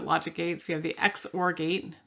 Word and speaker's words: XOR: gates we have the x or gate this is not pronounced zor it's pronounced xor we have the nand